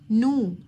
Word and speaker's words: know: know يعرف، الكي سايلنت، know عرفة.